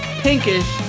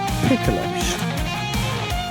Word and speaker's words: Picklish: But now we are ready for the two green men in our Covenant Pro Wrestling family, Pinkish and Dan Darnester. You pronounced his name wrong. It's now Picklish.